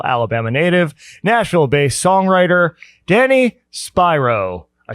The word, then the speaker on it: Spiro: here by Mobile, Alabama native, Nashville-based songwriter, Danny Spiro. I said it right. You said it right, man. Yeah, when you were walking in, I'm like, you're like, oh, it's Spiro.